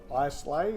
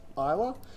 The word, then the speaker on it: Islay: It's not Islay, it's pronounced Islay.